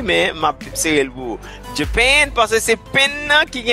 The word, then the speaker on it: Japan: Pas oublier, c'est deuxième nom qui est accentué. On va le dire? Japan. Merci. M'tapé oui, mais m'a serré le bout. Japan, parce que c'est pen qui a un accent.